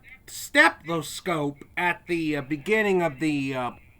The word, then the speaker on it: stethoscope: I have a weird habit of mispronouncing that word, pronouncing like the first T as a K sound.